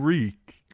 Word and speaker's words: Reek: I'm Reek. It rhymes with sneak.